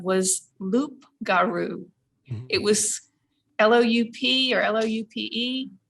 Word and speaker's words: loup: So you wouldn't pronounce the P. It's just loup.